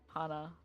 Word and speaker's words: Hana: It's not Hannah. It's something else. Is it Hana or Hannah? I am also curious. Hana. It's Hana. Hana. Okay. Okay, Hana. Alright. Korean way.